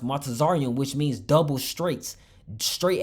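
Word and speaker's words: מצרים: The word Egypt in the Hebrew is pronounced Matazarium, which means double straits.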